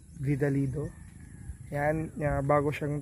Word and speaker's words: Vidalido: no from vidal Dido tama ba ako ng pagkaka pronounce tama vidal Dido yan bago siyang t